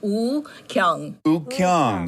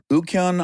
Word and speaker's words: Woo-Kyoung: the English spelling but W is silent so it's just ukong oh I like it and then on yes ukong on Boom did it